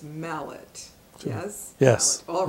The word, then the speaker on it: Mallett: for mispronouncing your name I called you Mel let and it's Mallett yes yes all right